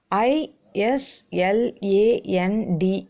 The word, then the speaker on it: island: topic that is island i s l a n d s you have to pronounce island s is silent you should not pronounce